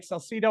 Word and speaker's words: Salcido: better than you at number four Denise Hollywood Salcido Salcido right Salcido was saying it right Salcedo go by the